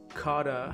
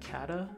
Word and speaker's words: kata: this website so far so coda how do you pronounce that kata kata um so you can sort